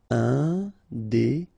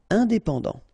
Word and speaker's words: indépendant: Final T not pronounced. Indépendant. Indépendant.